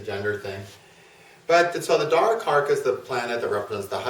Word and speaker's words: Darakaraka: Darakaraka is spelled D-A-R-A-K-A-R-A-K-A.